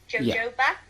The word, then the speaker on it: jojoba: oil isn't isn't there jojoba okay yeah so it's a bit like uh jalapeno the way you pronounce